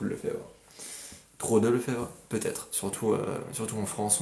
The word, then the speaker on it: Lefebvre: de gens c'est euh mon nom de famille c'est Le Fèvre ça ça se vraiment ça s'écrit le feubre mais c'est Le Fèvre comme tous les le Fèvres